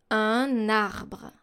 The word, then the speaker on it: un arbre: A liaison is when you actually link those two elements. So you take the last consonant of your first word and you link it, you pronounce it by linking it to the next vowel.